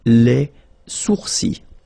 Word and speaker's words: sourcils: Okay, so it's quite strange because you get this LS at the end, but then, well, you don't pronounce them. Les sourcils.